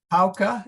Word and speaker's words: pauca: Pauca, it's a hard C. Oh, that's right. Pauca. Okay. Yeah. Pauca, C okay, is soft in front of I's and E's.